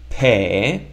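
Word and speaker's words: פה: together is pe, and how do we pronounce the hey? Correct trick question, we don't pronounce it because it's at the end of the word and it's just there as a space filler to not end the word with a vowel.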